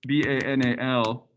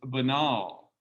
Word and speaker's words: banal: a the adjective is b-a-n-a-l which looks like another word but it's pronounced very differently it's banal banal banality banal so